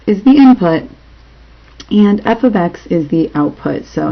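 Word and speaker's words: f(x): meaning one output it is often written as f of X that's how you say it f of X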